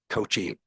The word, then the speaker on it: Coochi: no problem yeah uh my name is coochi coochi is how it's pronounced uh mayor deputy mayor